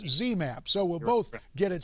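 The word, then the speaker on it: ZMapp: experimental drug is called cmap uh zmap get letter right yeah but see you said X I mispronounced it C now it's zmap so we'll both get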